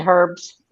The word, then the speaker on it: herbs: You guys do not pronounce the letter H. Okay, the stuff But it that you're going to depends. put on your food is what? You're saying herbs.